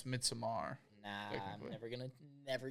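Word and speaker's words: Midsommar: I almost wonder if it's like midsummer 824. I think that's that that's too late though for that. I don't remember. I think you pronounced that wrong by the way. Mitsamar. Yeah, it's Mitsamar.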